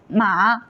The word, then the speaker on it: 马: Here, ma is the first tone and means moon, and ma is the second tone and it means flex, and ma is third tone and it means horse, and ma is fourth tone and it means to scold.